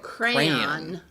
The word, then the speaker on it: crayon: Yes, it's two syllables.